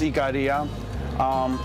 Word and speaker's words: Ikaria: We're from a little island, a longevity island called pronounced Ikaria.